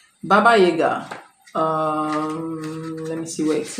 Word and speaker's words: Baba Yaga: So it says, to the Slavic people of Eastern Europe, Baba Yaga, pronounced Baba Yaga, is the old woman of autumn whose spirit lived in the last kernel of harvested grain.